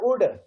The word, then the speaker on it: would: रहा हूँ, इसको could would, तो could और would दोनों में L जो है वो साइलेंट लेटर है.